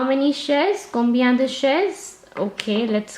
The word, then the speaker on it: chaises: I have to add an S for the plural, but I will not pronounce this S. So il y a 7 chaises.